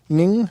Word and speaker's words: Ng: I don't know how to pronounce that for sure. Ning? Okay. Yep. Sarah Ning is the author of this, and she's apparently a writer.